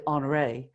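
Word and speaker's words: Henri: I say Henry Matisse, and of course I'd trash it. It's probably Honoré, but I'll say Henry Matisse.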